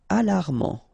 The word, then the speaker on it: alarmant: Alarmant. Final T not pronounced.